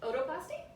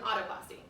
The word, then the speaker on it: otoplasty: tell me what exactly is an otoplasty is that how you pronounce it or it's an autoplasty either one oh either one okay so um the most common